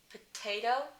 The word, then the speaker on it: potato: If it's the first sound of the word or the first sound of the stressed syllable, like the word potato, potato, that middle t, potato, that's aspirated.